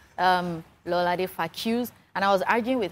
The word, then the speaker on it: Faquz: Faquz. F-A-Q-U-Z. We've been pronouncing Faquz now.